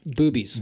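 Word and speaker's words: Bube's: And we're still a rated PG show, but it is actually pronounced boobies. Boobies. Yes, it is. Boobies Brewery. Yeah. B-U-B-E. Boobies.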